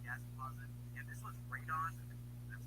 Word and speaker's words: radon: And this was radon.